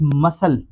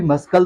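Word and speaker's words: muscle: नहीं पढ़ सकते अगर आप मसल को मस्कल पढ़ेंगे तो दोस्तों वो भी गलत हो जाएगा। एक्चुअली वर्ड यही है मसल क्योंकि यहां पे भी सी जो है वो साइलेंट है।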